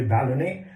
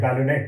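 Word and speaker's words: ballonet: both for the envelope as well as the ballonnet. I used to call it ballonnet until I heard the first talk by Professor Pant and recognize it should be pronounced as ballonnet.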